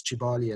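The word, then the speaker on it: Kibale: So, for some reason, they pronounced the K's as a a ch. So, that's Chibali and Simichi.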